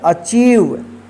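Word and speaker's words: achieve: एच आ आई ई वी ई इसको पढ़ेंगे अचीव ठीक यहां प देखिए डी ई सी ई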